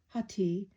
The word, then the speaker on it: hati: Atai, or hati, with a silent H, literally means liver, but is used also to mean heart or emotions.